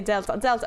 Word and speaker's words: d3l7a5: you want it's pronounced because I'm assuming this The Things Are supposed to be like um the numbers are supposed to be letters so that's say Delta okay thanks sometimes I